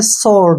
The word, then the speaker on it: sword: ठीक है ना, जब कभी W से पहले S आता है तो वहां पर हम W को नहीं पढ़ते हैं। S का उच्चारण श होगा। ठीक है, और O का उच्चारण O होगा और D का उच्चारण ड होगा और R का उच्चारण र। इसको हम पढ़ेंगे स्वॉर्ड। क्या पढ़ेंगे?